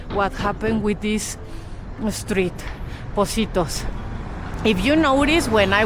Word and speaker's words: Positos: We pronounce it as S. So positos.